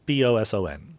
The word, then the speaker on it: boson: It's pronounced with a Z, but it's spelled with an S. B-O-S-O-N.